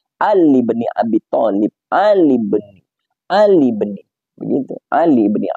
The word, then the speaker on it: Ali ibni Abi Thalib: tetapi itu tidak alifnya itu hamzahnya itu tidak dibaca sehingga cara bacanya Ali BNI Abi Thalib Ali Ali begitu Ali